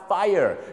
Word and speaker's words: Fire: จัก อยู่ แล้ว เนาะ อย่า ลืม ออก เสียง 2 พยาน นะ ครับ Fire อยู่ ใน ปารตี้ ระดัง